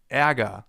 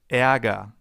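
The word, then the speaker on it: Ärger: E, as in aga, the German term for anger. And anger actually contains a sound that comes pretty close. Anger. Eaga. E. Not the same sound, but fairly close.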